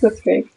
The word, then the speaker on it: Blitzkrieg: Blitzkrieg.